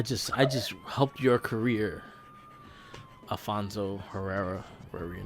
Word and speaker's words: Herrera: I just helped your career, Alfonso Herrera, whatever your name is. I think it's Riviera. Riviera. I forget. It's Herrera. It's Herrera. It starts with an H.